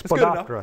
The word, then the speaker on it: Spodoptera: Spodoptera ornithogalli, I can't pronounce that. It's Spodoptera.